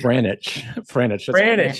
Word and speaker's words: Franich: being on our show I want you to say your last name to make sure I've been saying it correctly it's Greenwich yes yeah that's it yeah you have